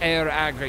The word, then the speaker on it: Iriagri: Iriagri is pronounced air agri.